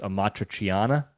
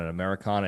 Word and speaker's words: amatriciana: But I believe it's pronounced amatriciana. Some people were saying calling it an Americana. It's not, but it's like this standard